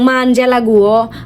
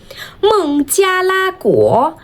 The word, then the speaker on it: 孟加拉国: বলছেন মানজালা বান্লা মঞ্জিলা এবং অনেক ধরনের ভুল উচ্চারণ এবং মানজালা গুও বাঞজালা গু মুনজিয়ালা গুয় নো আমরা আমাদের এই প্রিয় শব্দটিকে সবচেয়ে সুন্দর করে চাইনিজ উচ্চারণ করব।